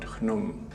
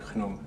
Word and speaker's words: Khnum: This jug here spells out the sound khenem. And that's the sounds in the name of the god Khnum. Khnum in Egyptian art was represented as a ram.